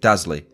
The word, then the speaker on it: Dazley: Now, I'm not sure whether it's pronounced as Dazley or Dazley, but based on the spelling, I'll stick with Dazley.